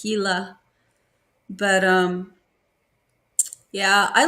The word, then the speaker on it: Gila: But Yeah, Gila, it's spelled, it looks like Gila, Gila, but the G is actually H in Spanish. So it's Gila.